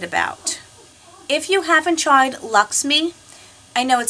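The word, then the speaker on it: LXMI: I'm really excited about if you haven't tried Lux me I know it spelled LX M I but it's pronounced Lux me this is analodjica melt they call it it's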